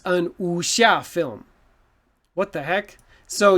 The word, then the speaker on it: wuxia: chinese so it's an usha film i use a n why well this word you don't really pronounce the w right so remember that